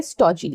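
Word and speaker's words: stodgy: हमारा अगला वर्ड है स्टॉजी। स्टॉजी। स्ट्रोजी का जो डी है यहां पे साइलेंट है।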